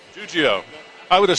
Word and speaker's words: Giuggio: to attempt your name give me some help juio juio I would have said it wrong Frank juio